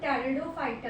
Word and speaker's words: Pteridophyta: इसमें पी लिखा होता है बट पी साइलेंट होता है, इसको हम टेरिडोफाइटा कहते हैं।